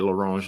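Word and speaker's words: à l'orange: which sounds fancy because you say it laronge like that because that's how they say it everything sounds fancy in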